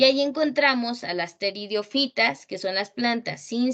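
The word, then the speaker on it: pteridofitas: Casi no se lee allí, pero pteridiofitas no se pronuncia la P, pues son plantas sin semillas.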